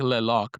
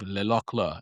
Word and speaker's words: Le Locle: It looks like Le Loc, but it's actually pronounced, I believe, Le Locle.